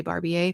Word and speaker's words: Barbier: But I can't bring myself to say that, so I say Barbier because that's the way it should be pronounced.